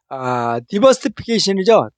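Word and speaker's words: diversification: 자, 디버시피케이션이죠. 또 영국식 발음은 다이버시피케이션입니다.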